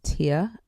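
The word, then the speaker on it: Tiye: I think it's spelled Tye, but an African man came up and told me the correct way to say her name is Tia, I think.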